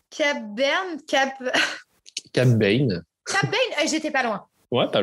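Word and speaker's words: Cad Bane: Alors, pareil, je suis nulle à la prononciation. Cab Bane. Cab Bane, j'étais pas loin.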